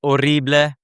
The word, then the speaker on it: horrible: Horrible would be horrible. H is silent there.